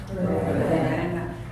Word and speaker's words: Ravenna: Then he bought another bank in, is it pronounced Ravenna? Ravenna.